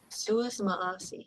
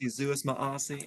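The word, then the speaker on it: Si Yu'os Ma'åse: Suis Maasi. Yes, I always get that. Zeus Maasi.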